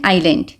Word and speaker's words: island: This is the picture of एन आइलैंड, okay. आइलैंड को जब हम लिखते हैं ISLAND लिखते हैं, इसमें जो S होता है साइलेंट होता है, इसको हम आइलैंड बोलते हैं, ठीक है।